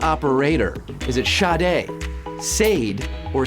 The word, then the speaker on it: Sade: female vocalists and includes the hit smooth operator it's spelled sa de but it's pronounced Sade Sade baybay and we